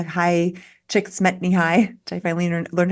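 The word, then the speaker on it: Csikszentmihalyi: the books Stephen Cotler and u m m High chick SMY High I finally learned how to pronounce often talk about flow states with sports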